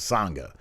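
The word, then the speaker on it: Sanga: Sangha. It sounds like you're singing something, because Sangha.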